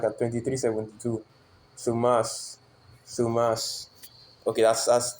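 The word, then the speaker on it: θυμός: Thumas. Thumas. Strong G 220, no, it's like a 2372. Sumas. Okay, that's how they pronounce it.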